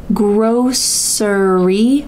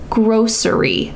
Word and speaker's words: grocery: preference you can say grocery with an S sound in the middle grocery Grocery but for me I say gry with a sh sound in the middle grocery store grocery store